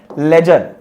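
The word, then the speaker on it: ledger: लेजर। लेजर में जो डी है ना, ये डी साइलेंट है, तो डी को हटा दो तो क्या बच गया? लेजर बच गया।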